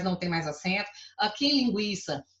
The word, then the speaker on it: linguiça: tem mais acento aqui linguiça ele é pronunciar a letra u é pronunciada mas ela é fraca linguiça tranquilo mais linguiça